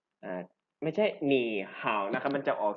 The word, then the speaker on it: 你好: ตัว แรก นะ ครับ ตัว คำ ว่า นี่ เนี่ย จะ ผัน ไป เป็น เสียง ที่ 2 เพราะ ฉะนั้น ตัว นี้ จะ ออก เสียง จาก นี่ ไป เป็น หนี นะ ครับ อาจ ไม่ ใช่ หนี